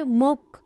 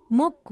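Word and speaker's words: 목: नेक यसलाई कोरियनमा मोक भनिन्छ। यसको नेपाली अर्थ घाटी हो। यसले उच्चारण गर्दा खेरि मोक मोक भन्नुपर्छ।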